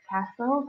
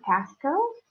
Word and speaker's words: castle: okay next up castle remember when you are pronouncing the word castle they keep it silent so it's not Casco what I don't know